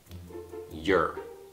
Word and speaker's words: you're: là vì khi nói, cả hai thường không được nhấn mạnh như trọng âm và chúng được phát âm giống nhau. You're.